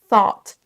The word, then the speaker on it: thought: Thought, thought. Et ensuite, le son OU, les deux lettres OU vont se prononcer comme un peu un O un petit peu qui traîne.